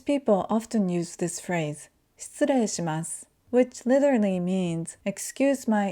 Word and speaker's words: 失礼します: So instead of saying 失礼します, we say 失礼します.